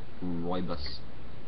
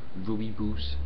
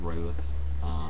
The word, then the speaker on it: Rooibos: And yes, it is pronounced Rooibos. Rooibos. It's not Rooibos. It's not Rooibos. It's Rooibos.